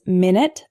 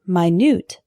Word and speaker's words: minute: lead our next one is minute and minute a minute is a period of time 60 seconds for example can I call you back in 10 minutes the word minute is spelled the same way but it's an adjective meaning extremely small for example this isn't an exact replica there are some minute differences minute minute our next heteronym is